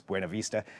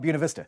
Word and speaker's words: Buena Vista: It's the Buena Vista Ferry, and I know if you look at that, the Spanish pronunciation is Buena Vista. Rural Oregon is called Buena Vista, but that is the